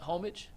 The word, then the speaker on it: Homage: Is that homage? Yeah, it's Homage. Homage. What's with the homage? homage. Yeah, so. I thought it was pronounced different, even though it's spelled like homage, but I guess not. Homage.